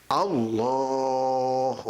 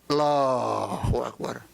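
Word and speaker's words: الله أكبر: Allahu Akbar. Jangan Allah. Ada Allah dong. Allahu Akbar. Allahu Akbar. Ada juga gitu yang Allah. Allah masih jelas.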